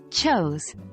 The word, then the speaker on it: chose: write written written is pronounced like written again the E is silent four choose chose chose is pronounced like chose where o sounds as in go five go went went